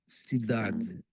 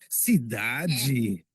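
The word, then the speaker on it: cidade: in Port in Portugal If you were to say the word City It's sidad s if you're in Brazil and you're saying Sidi you know I mean it's like they they pronounce the de G you know what I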